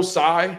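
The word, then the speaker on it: Tsai: here next owner Joe Sai I think that's how you pronounce his name I think the t is silent Josiah um reportedly completely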